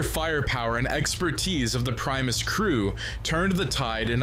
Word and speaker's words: Primus: how he says it it's not premise it's Primus I I don't know which way technically the right way to say it I'm not going to say the way he's saying it is wrong because I don't know which way is quote unquote right either way but I just think